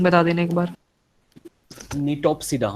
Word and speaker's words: Gnetopsida: निटोप्सिडा मतलब जी साइलेंट है, GNETOPSIDA, निटोप्सिडा।